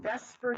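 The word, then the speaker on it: VSEPR: the 3D structure we will eventually get to Vesper Theory which is spelled the supper but pronounced Vesper which stands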